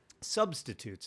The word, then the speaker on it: substitutes: there substitutes the substitutes substitutes it's more of an emphasis on the first Salam yeah usually oh season